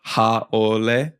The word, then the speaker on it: haole: So haole, haole, you know, wahine, wahine, kane ohe, not kani ohi.